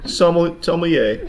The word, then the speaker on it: sommelier: Did you say somm because you're scared to pronounce the whole word? No. Sommelier.